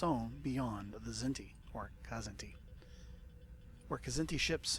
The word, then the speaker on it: Kzinti: The Kzinti hegemony, or is that pronounced Zinti? Star Trek the Animated Series pronounced it Kzinti, so that's how I'll do it.